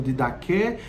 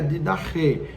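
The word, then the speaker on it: didachē: Alguns pronunciam de daqu, mas a pronúncia mais próxima do grego é de da re, né? esse H puxado mesmo, que significa exatamente isso,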